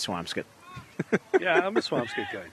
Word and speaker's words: Swampscott: comes up the question is it Swampscott Swampscott I think it's swamps get but you know I'm a Malden guy by trade so I probably shouldn't go through any uh pronunciations of mine but it's uh I eat scallops not scallops and it's and it's swamps good yeah I'm a swampscape